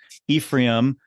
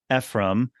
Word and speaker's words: Ephraim: name correctly so there there's multiple ways to say it there's Ephraim Ephraim epim and then the people from people who speak Spanish they say Ephraim um or you know